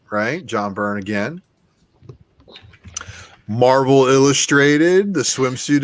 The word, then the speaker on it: John Byrne: This is the Omnibus by John Byrne. And shout out to McClay for making me pronounce it correctly.